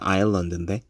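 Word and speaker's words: island: 영어에서 섬을 뜻하는 아일랜드에 실제 발음이 나지 않는 s가 들어가 있는 것도 라틴어에서 문자를 가져올 때 인솔라에서 가져왔기 때문이에요. 문자를 그대로 갖고 와서 S는 있는데 원래 섬을 뜻하는 발음을 할 때는 s가 없었어요. 그 말로는 예전이나 지금이나 아일런드인데 문자를 가져오면서 발음나지 않는 철자들이 추가가 된 거죠.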